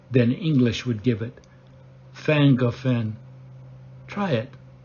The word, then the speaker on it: Llangollen: We picked a campground near the town of ffan-goh-ffen in northeast Wales. ffan-goh-ffen is spelled Llangollen. But in the English language, the double L is pronounced like a double F would be in English.